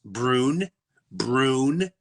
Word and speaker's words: Breuniverse: I went, just think of Breuer and universe. Breuniverse.